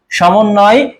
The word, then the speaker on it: সমন্বয়: আর একটা রয়েছে সমন্বয়, সমন্বয়, এখানে কিন্তু ব ফলা ব্যবহার করা হয়েছে, এবং যার সঙ্গে ব ফলা থাকে সেই বর্ণটা উচ্চারণের ক্ষেত্রে দ্বিত্ব হয়, আর দ্বিত্ব মানে কি?